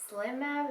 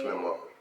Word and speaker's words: Slim Mob: So, Slim Mab, is that how you say it? Slim Mob. Slim Mob. You gotta say it like Slim Mob.